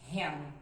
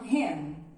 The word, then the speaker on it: ham: Então, exemplo, em inglês, a palavra presunto termina com a letra M e o correto é pronunciarmos ham, ham. Tem alguns alunos que não fecham e falam ham, ham.